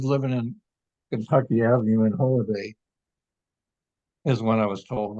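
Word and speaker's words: Holladay: no they later bought a oh home in Holiday Utah that's spelled h o l l a d a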